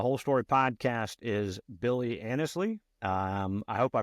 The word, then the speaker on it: Annesley: Today's guest on the Whole Story Podcast is Billy Annesley. I hope I pronounced that right, Billy.